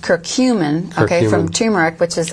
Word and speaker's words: curcumin: produce ourselves curcumin which comes from turmeric that's pronounced curcumin okay from turmeric which is a a little